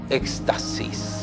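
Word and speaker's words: ἔκστασις: palabra que usted alcanza a ver acá se pronuncia éxtasis y el Éxtasis no supone una experiencia física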